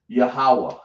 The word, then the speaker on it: Yahawah: Yahawah. Yah. Right? Like that. Spell it like that. Yah. We got to say ha. Right. Ya. And then we're going to say wah.